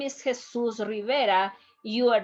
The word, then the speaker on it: Jesus: you my name is jesus rivera you are not going to tell him jesus rivera you have to pronounce jesus rivera is not